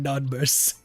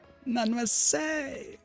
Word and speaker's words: non merci: For all streams moving forward, just screaming none mercy. Whisper to never release that shit in public. Not mercy! How do you actually pronounce it?